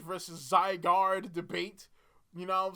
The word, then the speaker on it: Zygarde: All right, I always read it as Zygrade, but it's Zygarde.